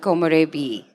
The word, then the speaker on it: Komorebi: talking about a dao that we co-founded called komorebi that's how it's pronounced komorevidao um and we'll be talking about